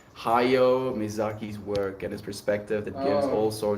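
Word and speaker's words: Hayao: engine I love you how do you say that name h a y-a-o Hi how are you higher higher mizaki's work and his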